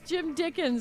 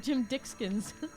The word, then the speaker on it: Jim Dickens: they always say it wrong with Letterkenny. It's Jim Dickens. They always call him Jim Dickskins.